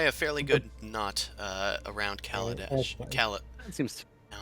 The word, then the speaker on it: Kaladesh: you tie a fairly good knot around Kaladesh. okay. That seems Now I'm fairly doing good. it. Calabash. Calabash. Shane's deliberately mispronouncing it like a magic set.